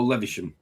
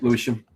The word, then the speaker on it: Lewisham: Enfield, Newam, Hackne or Levisham or Lewisham. Louis Lewisham. Tom, come on. Sorry, I've just said it. Lewisham from Yorkshire, you know. Can't really spell or pronounce things. Well done. Yes. Lewisham.